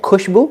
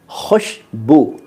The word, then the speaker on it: खुशबू: कई लोग कहते हैं खुशबू वो सही उच्चारण नहीं है कई लोग कहते हैं खुशबू वो भी सही उच्चारण नहीं है सही उच्चारण तो है खुशबू और इसका अपोजिट भी